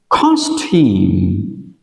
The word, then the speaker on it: costume: Costume, costume, costume. À, trọng âm rơi vào âm tiết thứ nhất.